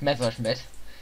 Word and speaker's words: Messerschmitt: That's by the way how it's pronounced, Messerschmitt.